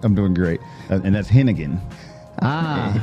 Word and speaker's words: Henighan: doing great and that's henan ah henan is the easy way to pronounce that the silent h will throw you off in the middle I love it henan henan yes sir yes sir